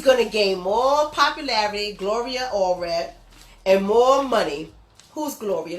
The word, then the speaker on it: Gloria Allred: That's how you pronounce her name, Gloria Allred. She's going to gain more popularity, Gloria Allred, and more money.